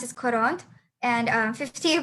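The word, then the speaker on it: quarante: 40 you pronounce it coront.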